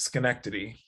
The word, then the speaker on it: Schenectady: union college yeah in college what i can't pronounce the name of that the town it's okay it's schenectady and schenectady that's all you gotta that's all